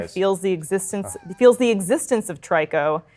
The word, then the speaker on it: Trico: I believe its name is Trico, or I think that's how it's pronounced, Trico. Yeah. Interesting. Like Ico, but the third one?